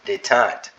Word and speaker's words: détente: Detente. Well, I sounded illiterate. Detente is how you say that.